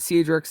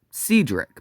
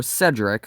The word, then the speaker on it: Cedric: White Star said that Cedric's name should have been pronounced Cedric, but the public usually called her Cedric, which is what it looked like.